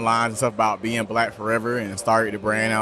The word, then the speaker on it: BLKFRVR: own a brand called black forever but it's spelled differently it's actually spelled b-l-k-f-r-v-r and uh we're a